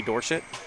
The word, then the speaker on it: Dorsett: of all time Tony Dorsett which as a pit fan we utilize the Dorset pronunciation as he was when he attended the University of Pittsburgh out of Hopewell High